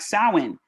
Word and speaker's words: Samhain: Some things look like they're pronounced a certain way, but they're not, like Samhain. As an American who speaks English as her first language, I would never have guessed. that's how you spell Samhain, right? Because it looks like it's pronounced completely different.